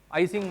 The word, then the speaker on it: Ising: of in statistical mechanics called Ising models or using models as the right pronunciation is so this is